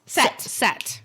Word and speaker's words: Seth: Set. Yep. And it looks like Seth, but it's pronounced Set.